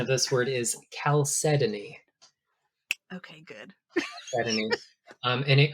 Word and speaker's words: chalcedony: also morphed over time, we kept one hard C sound, but then the other became soft, and so it became chalcedony.